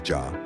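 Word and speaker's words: já: or daughter daughter 13 in Icelandic hello is pronounced Halo thank you is talk yes is Jah no is nigh and goodbye is bless 14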